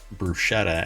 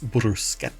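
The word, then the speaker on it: bruschetta: interaction because they were they corrected how to pronounce brushetta as brusa um and apparently you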